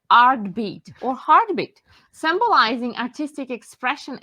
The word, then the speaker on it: RTBT: perfect so rtb is uh pronounced as artbeat um and it's actually it combines everything that that is so important for all of us so it's art heartbeat hearts and and the ongoing rhythm of our life and uh that inspired